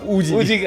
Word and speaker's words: Uji: इसको प्रोनाउंस जबकि जबकि हमारा पंजाबी एक वर्ड बड़ा सिमिलर है ओ जीी ओ जीी हां मतलब कह लो